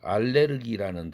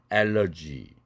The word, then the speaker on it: allergy: 예를 들면은 그 알레르기라는 단어, 독일어 단어가 있어요. 그런데 그것이 영어에서는 어떻게 합니까? allergy, 알레르기가 아니라 allergy 하고 영어에서는 국외음화를 일으키죠. 독일어에서는 안 일으켰는데 이러한 사례들이 꽤 됩니다.